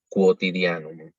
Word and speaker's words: quotidianum: Pero en el caso, a diferencia del español, en latín siempre pronunciamos esa U. Es decir, acá, bueno, después le sigue una O, entonces decimos quotidianum.